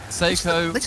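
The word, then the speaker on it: Seikoo: Seiko rhymes with 6-0.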